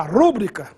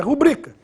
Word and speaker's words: rubrica: rubrica com muita frequência muita gente fala rúbrica mas oficialmente essa palavra é parox Ou seja a pronúncia oficial é rubrica em razão disso não